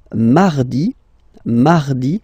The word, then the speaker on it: mardi: Then mardi, mardi. So you can hear that you don't pronounce it that strongly, this R.